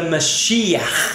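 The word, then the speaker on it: משיח: The Mashiach, and that's how they say it, with a ch, okay?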